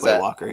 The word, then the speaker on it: Quay Walker: I say Quay Walker. Quay Walker. Is Quay Walker. Yep. Is that right? Okay, cool. Yep.